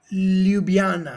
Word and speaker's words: Ljubljana: Ljubljana.